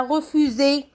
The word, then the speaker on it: refus: Il nous reste une lettre qu'on ne prononce pas, c'est bien sûr, le S.